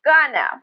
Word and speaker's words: gonna: Next, I just want to mention gonna from that text. It's another informal contraction. Just like wanna or wanna, gonna is generally pronounced with the schwa. Gonna, gonna.